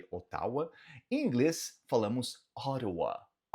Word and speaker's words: Ottawa: Em inglês, falamos Ottawa. Nota que esse T duplo você vai pronunciar como se fosse um R de caro, de arara.